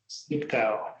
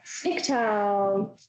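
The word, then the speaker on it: Sniktau: Okay, who is going to teach me how to pronounce this? Snicktow. Snicktow, Mount Snicktow.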